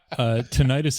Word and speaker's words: tinnitus: Tinnitus is another one for me because I Oh, have yeah? it. It's actually pronounced tinnitus.